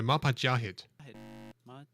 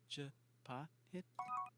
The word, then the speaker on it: Majapahit: You just made me pronounce it wrong. The Mapajahit. No. Majapahit.